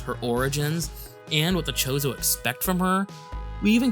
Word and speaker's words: Chozo: some hints about the chozo or or is it Kozo I always pronounced it with a K like Chasm I don't know why